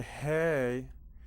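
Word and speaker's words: ה: And so when you say hey, it's like there's room for the air to go out, okay?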